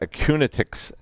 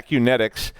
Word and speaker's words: Acunetix: Daniel Mercier the the senior security researcher at acuña tick's I'm at Unitec kinetics sorry I said it wrong yeah Acunetix is was the guest and they talked about